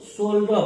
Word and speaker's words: shoulder: अब देखिए OU और D के बीच में L था, साइलेंट नहीं हुआ। और दूसरा वर्ड है SHOULDER, इसको हम लोग शोल्डर पढ़ते हैं।